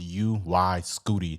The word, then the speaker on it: UY Scuti: If you don't know how Young Thug's new album name is pronounced, it's pronounced UY-SCUTI. That's what it's pronounced, and it's the biggest known star in the universe.